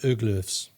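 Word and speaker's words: Haglöfs: Swedish outdoor brand called hagloffs perfect for any Scandinavian it's pronounced uglers in the Western World well I wouldn't be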